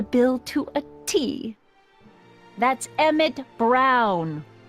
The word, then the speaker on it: Emmett Brown: to a tee that's Emmett Brown rhymes with clown which I'm beginning to